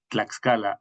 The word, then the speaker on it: Tlaxcala: De hecho, así se pronuncia el ingeniero Brian. Tlaxcala, cuna de la nación en México.